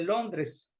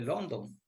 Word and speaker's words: Londres: Y a Londres debemos llamarle Londres. Aquí no tenemos que decirle London, ni mucho menos.